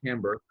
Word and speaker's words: timbre: It took about 2 years, but I rebranded as Timbre. And the story is a similar story as, the wine being a window to the winemaker's soul. So timbre or timbre, it's pronounced both ways, is essentially the fingerprint or sound of one's voice.